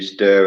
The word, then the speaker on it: stir: with stirring, like you stir a cup of tea Or or a the cup pot. of coffee. Stir. It's difficult to pronounce though. Can you say it? Stir? Stir. Stir. Like that zombie sound.